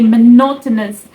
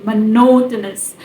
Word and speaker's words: monotonous: accent then you say monotonous then you have to stress that no no part like no that syllable that particular the second syllable monotonous monotonous monotonous so yes and the